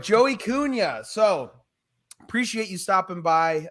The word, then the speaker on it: Cunha: it's yes yeah so it's uh silent i always tell people silent h out of y kunya it's portuguese man oh okay sorry portuguese all right joey cunha so appreciate you stopping